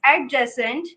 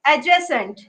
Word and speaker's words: adjacent: If we write it, it's adjacent. If we pronounce it, it's adjacent. D is silent there.